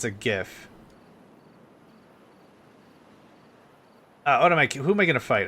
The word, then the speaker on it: GIF: It's a GIF. A hard G. Because the acronym of GIF is graphic image file. It's a hard G, it's GIF. It's not a GIF.